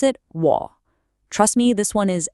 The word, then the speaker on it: 我: And you pronounce it W.